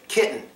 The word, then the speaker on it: kitten: both of those rules so how do we pronounce it kitten it is kitten it works excellent that one gets a silent